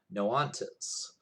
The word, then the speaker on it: Noxantes: group um noantas n-o-x-a-n-t-e-s but i saw that i was phonetically spelled out somewhere when i was researching them no ontos and so this is